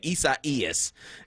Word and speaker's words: Isaias: Isaias. Is that right? Isaias. Okay, Isaias is moving up the coast.